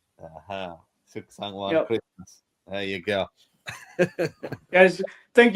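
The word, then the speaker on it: สุขสันต์วันคริสต์มาส: Suksan One Christmas. Suksan One Christmas.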